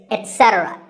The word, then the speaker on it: etcetera: says number three is etcetera a very common incorrect pronunciation is to say etc instead of it don't say that and also remember that the stress is unsaid so the word is etc you will also